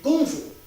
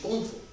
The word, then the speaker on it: 功夫: No, wait, kung fu. In Chinese pronunciation, kung fu.